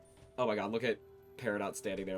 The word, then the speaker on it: Peridot: And yes, I know that generally it's pronounced Peridot, but as far as the show, it's pronounced Peridot. Also, it can be both Peridot and Peridot. Both pronunciations are considered correct.